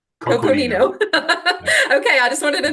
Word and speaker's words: Coconino: Coconino. Coconino.